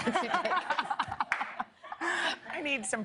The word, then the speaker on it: Sudeikis: I call him Jason Sudeikis. Okay, but his name is Jason Sudeikis.